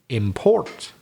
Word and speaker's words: import: rule stays the same i need to stress the second syllable so then that case